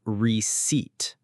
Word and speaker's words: receipt: The p is completely silent. We say receipt.